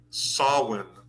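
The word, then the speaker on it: Samhain: Well, there was Irish uh or Celtic um celebration of um sawin, which is actually Ham s a m h a i n.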